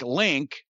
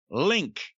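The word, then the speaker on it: LinQ: Formerly of the group, and I don't know how this is pronounced, I think Link, but L-I-N capital Q, Link.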